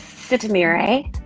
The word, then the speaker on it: Sitemere: Can you pronounce it for me, please? Yes, Sitemere. Sitemere. Okay, Yes. got it. Sitemere, Sitemere.